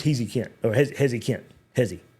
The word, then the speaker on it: Heze: Hezi, not Hezy. I've been calling him Hezy, but I was watching the uh I was definitely watching the u commitment and it's he so apologize previously for mispronouncing his name, but want to get